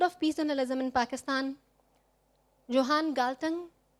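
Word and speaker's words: Johan Galtung: Peace journalism in Pakistan Johan galtan I am sure this is correct Norwegian pronunciation um I love this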